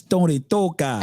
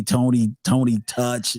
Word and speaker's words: Tony Touch: It's Tony Toka. So yes, yeah, you gotta say it like that, or else you didn't say his name. You say Tony Touch.